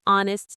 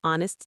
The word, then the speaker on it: honest: An honest teacher. Actually, this one is correct. H is silent and honest vowel sound. So an honest teacher is right.